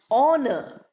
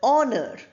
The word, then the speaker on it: honor: Honor, H-O-U-R is pronounced as R, exactly like O-U-R. They are homophones. Then you have the word honor. Then you have the word honest. We don't say honest or honor.